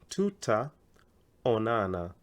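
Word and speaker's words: tutaonana: always freaked out like how do I pronounce that tuta Onana I like splitting it into tuta on Anna but you say it quicker to Tau Nana anytime in kiswahili you have double vowels like these two A's you prolong them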